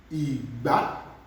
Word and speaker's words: ìgbá: That's GB pronounced together. Is Igba, do mi, ìgbá.